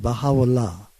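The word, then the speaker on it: Bahá'u'lláh: In Arabic, which is the language it was given, it's pronounced Baha'u'llah. Glory of God, okay?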